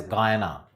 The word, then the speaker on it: Guiana: French Guiana, written as Guyana, it is pronounced as Guyana.